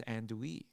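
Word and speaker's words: andouille: a southern thing he's like oh that that's andu andu it's like the sausage kind of thing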